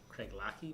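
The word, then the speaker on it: Craigellachie: controversy I'm gonna snow this is pronounced Craig Lackey but don't you want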